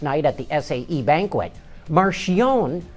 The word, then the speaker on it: Marchionne: on electric cars Fiat Chrysler head hono Sergio Marion that's right he pronounces it Marion not Marion as I've been saying it all